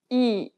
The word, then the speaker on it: 이: The next vowel is 이, open your mouth as if you were trying to show your teeth and say the letter E. Say it like the E in meat, but shorter. 이, 이, 이, 이.